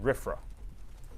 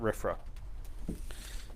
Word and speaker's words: RFRA: The Religious Freedom Restoration Act, pronounced RFRA. Right? RFRA.